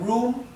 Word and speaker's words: room: Esto se pronuncia room porque recuerden que la doble O en inglés se pronuncia U, ¿verdad? Hay muy pocas excepciones a esta regla.